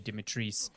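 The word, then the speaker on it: Dimitrescu: marketing has been around the castle and Lady Dimitris, which, truth Bob, that's how you say her name.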